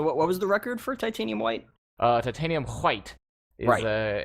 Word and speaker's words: Titanium hWhite: uh H white as I like to say titanium H white though is there is that the correct way you're supposed to pronounce their name I think it's white white yeah it's titanium white yeah titanium white is uh has a little